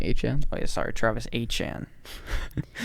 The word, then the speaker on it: Etienne: Oh, I guess they signed ETN. Tight end. It's actually HN.